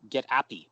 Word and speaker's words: Apy: Now I was wondering when I saw it, I thought, oh, it's called Get Appy, but it's Get APY. What does APY stand for? For happy, but Oh, Appy.